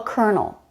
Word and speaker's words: colonel: R this is the only word in English that I can think of that has an R sound but no letter are the letters of this